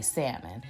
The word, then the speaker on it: salmon: or just yourself so normally i do not pronounce the l in salmon um i kind of